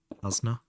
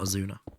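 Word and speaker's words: Asuna: It's how they pron pronounce the character's name in SAO. Asna, not a Zuna.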